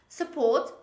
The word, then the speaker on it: support: ah cabbage other examples support support it's not support but it's support only one p sport support another example